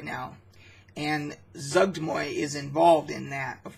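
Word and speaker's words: Zuggtmoy: I did see, so like for an example, you have Zugdmoy, which I believe is the proper pronunciation for that deity.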